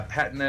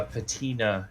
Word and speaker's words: patina: the more americanization yeah patna is british uh patina is american okay so we're both